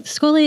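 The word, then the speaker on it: Schole: So, Skoli Academy is this um it's spelled S C H O L E.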